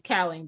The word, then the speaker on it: Kauwling: You're not even pronouncing my name right. It's Kauwling, but go ahead.